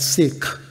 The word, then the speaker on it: Sikh: family belongs to a religion called Sikh that spelled sik edge to make it simpler to pronunciate sometimes we call it Sikh which actually matches the literal translation of the word which is to seek